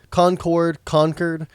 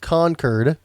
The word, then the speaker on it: Concord: And it's Concord. Bostonians apparently pronounce it Concord.